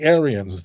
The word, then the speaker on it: Arians: those who opposed the Arians the word Aryan there is spelt with an AI not like the Nazis are spelt with a Y different same sound different spelling so the ebb unites